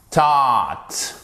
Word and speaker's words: taught: Taught, ok? But. Qu'est-ce qui se passe? Votre G n'est pas prononcé, d'accord?